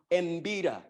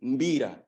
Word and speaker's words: mbira: And then the pronunciation brackets are mbira, which is wrong. It simply is mbira. It starts the M with the M and not preceded by a vowel.